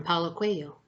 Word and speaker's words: Paulo Coelho: of the book, Warrior of the Light, from Paulo Coelho. That's how you pronounce his name, by the way.